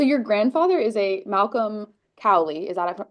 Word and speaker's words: Cowley: Um, so your grandfather is a Malcolm Cowi. Is that pronouncing it correctly?